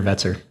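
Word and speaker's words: Wetzer: Vetzer.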